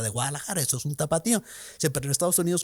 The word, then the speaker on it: tapatío: Así que si se lo quieren llevar como tapatío, pues ahí está. La reacción de ellos fue, no es que tapateo es una palabra muy difícil pronunciación en Estados Unidos. La gente le va a pronunciar tapario.